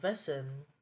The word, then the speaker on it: Wesen: mythology of it all came to be now vessen or German meaning a being or sentient creature are subra of metahumans and are Sub sub type of dominant species endemic in many universes of mahara prime vessen is a collective term for creatures that Grims